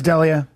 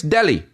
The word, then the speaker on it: D'Elia: said but I mean openers got my name wrong oh you would you'd be shocked you think it's like Chris D'Elia something like in Canada not this past time last time Chris Delhi and dude and he